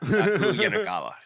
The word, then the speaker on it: Saku Yanagawa: If you can spell, it sounds like Hakuna Matata. Saku Yanagawa.